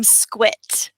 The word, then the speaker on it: SGWIT: SG wi T how how should I be pronouncing that we call the program squit squit okay so from now